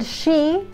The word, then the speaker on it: she: bien la H y el she es como cuando decimos sh, sh, sh, ¿no? Porque a veces te hacen chi, chi, de chi, ¿no?